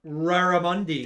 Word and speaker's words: Raramundi: It begins with an R. Raramundi. Yes. Not a K. Do you smell what he's cooking? What Caramundi.